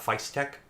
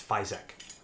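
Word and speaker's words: Fysetc: It's not Feistek, it's Fizek. Their heater cartridge comes with a pre-crimped Microfit 3 on it, and that's what I'm using here.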